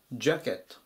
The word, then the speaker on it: jacket: ます 931 番ジャケットジャケットアクセントは 1番最初のところにありますジャケットとかあと